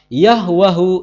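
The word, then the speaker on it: يهوه: shiuha arbu muswiruha liutabbitaha yahwahu ismuhu nama yahwe dalam bahasa Arab diucapkan yahwa Kenapa karena dalam bahasa Arab tidak ditemukan vokal e Nah sekarang kesaksian dari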